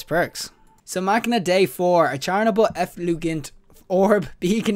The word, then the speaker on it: Machina Dei: And the next pulse I'm going to be doing right now is the Machina DEI 4. Or the Machina Dei 4.